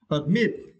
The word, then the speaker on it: admit: Okay, and we have another word, admit. Yeah, for this word you need to stress the second syllable, mit. Okay, admit.